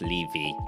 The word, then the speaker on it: Levy: Levy. My surname is pronounced Levy, like leave me alone.